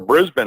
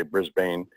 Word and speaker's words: Brisbane: down in Brisbane, or Brisbane. I've been told I say it wrong. I always say Brisbane, but it's Brisbane.